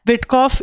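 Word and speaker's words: Witkoff: होनी चाहिए Steve विस्कफ Steve jobs से हमने इसका नाम याद किया हुआ है स्टीव जॉब्स विटकफ इसको बहुत ही कफ हो गया है तो इसको विट विट नाम की दवाई दे रहे हैं विटकॉफ ठीक है स्पेलिंग यहां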